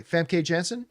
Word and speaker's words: Famke Janssen: It's got, I never know how to pronounce her name, but Jean Grey, Famke Janssen. Yeah. Did I pronounce her name?